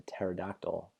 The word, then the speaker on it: pterodactyl: Why can't you hear a pterodactyl go to the bathroom? Because the P is silent. Because the word pterodactyl is actually spelled P-T-E-R-O-D-A-C-T-Y-L. Pterodactyl. But the P is silent. That's why you can't hear go to the bathroom.